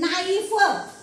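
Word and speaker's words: knife: आपण याला काय वाचलं नाईफ मग याच्यामध्ये के चा उच्चार आपण केलेला नाही म्हणून ह्या ह्या वर्ड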